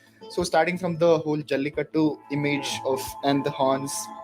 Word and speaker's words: Jallikattu: That is how it's pronounced? Yes, Jallikattu.